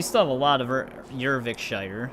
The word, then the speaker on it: Eurvicscire: We still have a lot of ervikshshire. That's how they were pronouncing it.